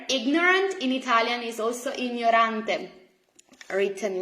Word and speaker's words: ignorante: It is ign, ny, ny. Okay, ny. Lo gnomo, gli gnomi.